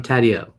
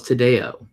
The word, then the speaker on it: Taddeo: Oh, so it is Taddeo. I thought it was Tadeo. But, all right, Jeffrey Taddeo, it is.